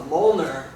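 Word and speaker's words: Mjölnir: is uh called a Moler and uh it's spelled very weird it doesn't uh it's not fonetic it's MJ o l l n i r and it's uh it's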